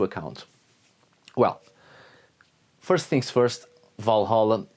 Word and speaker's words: Valhöll: Well, first things first, Valhalla is a Victorian misspelling of Valhöll, so from this moment onwards, throughout this video, I shall pronounce it Valhall.